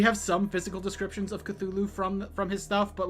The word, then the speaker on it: Cthulhu: a thing called the cthulu Mythos or I'm sorry cthulu Mythos that's how it's supposed to be pronounced um that is